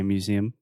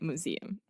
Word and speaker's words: museum: two important things first in the first sound you want to say mu mu mu right and then close your mouth with the final M just like the brand